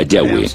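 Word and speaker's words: Yahvé: nombre más íntimo y personal que normalmente se pronuncia yahwe yah los pasajes con nombre de yavé que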